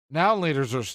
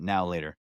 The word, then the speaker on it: Now and Later: Now and Laters are good. Affectionately pronounced as a now and later. No, everybody always skips the end and they're like, now later.